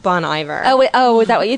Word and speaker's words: Bon Iver: to the bunny bear i think it's pronounced bon iver oh is that what